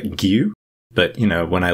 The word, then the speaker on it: Gio: And in Danish, these vowels make different sounds than in English. And so I actually can't reliably say it the way that Elias pronounces it. It's something like Gio.